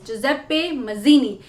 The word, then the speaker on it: Giuseppe Mazzini: तो दोस्तों, इस नाम को ऐसे ही प्रोनाउंस करते हैं, दैट इज जुजेप्पे मज़ीनी। ये एक इटालियन प्रोनाउंसिएशन है और इससे हम याद